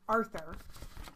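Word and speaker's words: Artur: pronunciation of my name it is pronounced with the H but spelled without it when you did the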